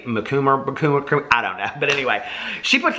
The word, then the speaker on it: Macomber: not a huge Debbie Macomber fan and I know I'm mispronouncing her name somebody said it was like cucumber Debbie mikuma yeah but anyway she